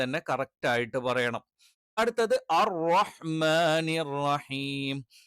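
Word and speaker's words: الرَّحْمٰنِ: അടുത്തത് അർ റഹ്മാനിർ റഹീം. അർ റഹ്മാനി എന്നുള്ളത് പല ആളുകളും റഹ്മാനു എന്ന് പ്രൊനൗൺസ് ചെയ്യാറുണ്ട്. അഥവാ റഹ്മാനി എന്നുള്ളതിന് പകരം റഹ്മാനു എന്ന് ഉച്ചരിക്കാറുണ്ട്. അതും തീർത്തും തെറ്റാണ്.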